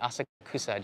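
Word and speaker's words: 浅草: And for the word snobs here, I am pronouncing it Asakusa, just to make you upset now. It's the phonetical way to say it, as the Tokyo subway points out when it stops here.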